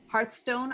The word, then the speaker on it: Hearthstone: could go through but the top ones are hearthstone i always say that wrong is that correct